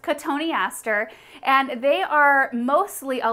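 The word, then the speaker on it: Cotoneaster: you accidentally call it cotton easter in the beginning because i think everybody has done that it looks exactly like the words cotton easter but it's actually pronounced catoniaster and they are mostly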